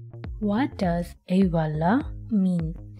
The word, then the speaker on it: Eyvallah: what does ewala mean it pronounced like a voila okay and what does